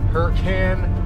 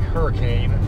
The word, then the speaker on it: Hurricane: We're all the way out in what's pronounced Hurricane, Utah. It's spelled like hurricane, and I would have called it that if Dawn hadn't informed me that it's actually pronounced Hurricane.